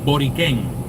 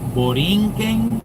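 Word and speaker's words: Borikén: You might have heard some refer to it as boring. B O R I N. There was no N for the Tenos. Tyos didn't call it Boring. They just called it Boren without that N in the middle.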